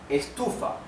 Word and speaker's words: estufa: For example, the word estufa. Estufa means heater, a heater, to produce heat, right? Estufa. The sílaba tónica is tu.